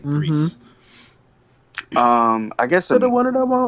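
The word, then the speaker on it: Gris: It is spelled G-R-I-S, but it's pronounced like mm-hmm. Greece.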